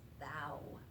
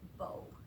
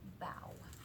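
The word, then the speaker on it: bao: the word, and it's bow, not like bow. It's spelled the same way, but we pronounce it bow, like a dog, bow.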